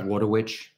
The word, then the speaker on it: Wojtowicz: Wojtowicz or? Well, he doesn't pronounce the J, I noticed. Well, oh, okay. So the real guy. Wojtowicz.